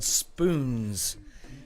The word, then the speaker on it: Spoonz: of an organization called Spoonz, with a long O in there, Spoonz, and a Z at the end, and they host cuddling events.